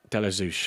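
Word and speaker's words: Ashby-de-la-Zouch: I can never still never pronounce that properly. Delazouch. Delazouch.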